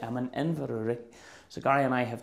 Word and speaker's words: Inverurie: How do you pronounce it? Inverurie. I'm in Inverurie.